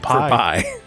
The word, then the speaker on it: pi: Oh, For pi. Yeah. Which rhymes with my.